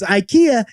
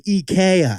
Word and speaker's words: IKEA: we all say incorrectly besties you put the wrong and fastest on the wrong syllable for instance Ikea is actually Ikea for example Adidas is actually Adidas so we asked the